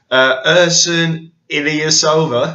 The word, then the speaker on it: Ersan Ilyasova: You'll have to forgive me if I mispronounce his name. Yeah. But here we go. Ersan Ilyasova.